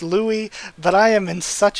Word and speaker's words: Louis: And I'm pretty sure it's supposed to be pronounced Louis, but I am in such a habit this entire year or so that I've been reading the manga.